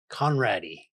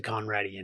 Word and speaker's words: Conrady: Yeah, my uh last name ends with a Y, their last name ends with an E. Pronounced exactly the same though.